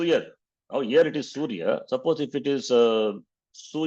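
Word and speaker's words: सूर्य: So never make the mistake suyar, not suyar, surya.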